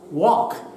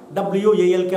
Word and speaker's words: walk: We come across silent words like walk, W-A-L-K, walk.